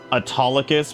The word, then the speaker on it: Autolycus: Thank you, Autolycus.